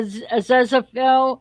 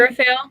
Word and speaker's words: Aziraphale: objectified David Tennant, But the whole thing is now you got me wanting to get a Zezafel. I think that's how you say his name. Aziraphale.